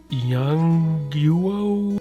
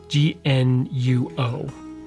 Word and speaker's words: Yongnuo: They're Yongnuo. I can't really pronounce the name very well, but it's Yongnuo.